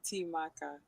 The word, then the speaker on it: Temakha: The proper pronunciation is Temakha.